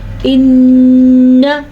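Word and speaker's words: إِنَّ: نون کے اوپر جب بھی شد آ جائے گی تو نون کا غنہ ادا کرنا ضروری ہے.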